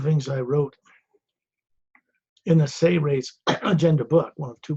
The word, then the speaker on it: Seres: One of the things I wrote in the Seres Agenda book, one of two books I published, S-E-R-E-S, Seres, it's pronounced, is a technique section